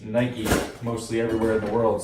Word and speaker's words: Nike: in this part of Canada we called it Nike, but I guess judging from the comments from that last video, it's pronounced Nike mostly everywhere in the world, so let's take it from there.